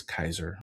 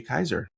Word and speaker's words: Kaiser: And our guest today is Lydia Kaiser. Is that correct? Did I say it correctly? That's right. Kaiser.